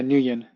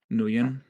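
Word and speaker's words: Nguyen: D2 following the interiew Dr new nen nen okay wait I'm trying to remember sry new yeah Newan Newan okay yeah uh it's Vietnamese oh okay silent G okay uh following the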